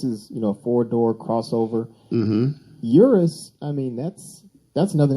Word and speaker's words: Urus: first i had to google the how the pronunciation was because i would have said lamborghini uranus right yeah and uh i don't think people